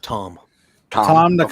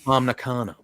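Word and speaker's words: Tam Nakano: Yeah, Momo versus Willow and it's pronounced Tom Nakano. Okay. Tom Nakano.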